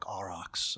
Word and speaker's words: Arax: and I said Harry my name is Mark arox I pronounced it the old country way and I said um